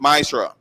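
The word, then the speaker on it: מעשר: You can find this in numbers 18 and verse 21 and Malachi 3 8-10 means 10th in the Hebrew and is pronounced myra.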